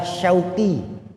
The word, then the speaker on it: Syauqi: Nama saya yang diberikan orang tua saya adalah Syauqi. Shin, waw, qaf, ya.